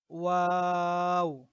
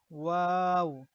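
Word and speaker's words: واو: আচ্ছা, আর এটা হলো ওয়াও, ওয়াও। তো আমরা ওয়া এর উচ্চারণ করব দুই ঠোঁটকে গোল করে, দুই ঠোঁটকে গোল করে আমরা ওয়া এর উচ্চারণ করব। ওয়াও। আচ্ছা, তো ওয়া এর মতো কোনো শব্দ বাংলাতে নেই।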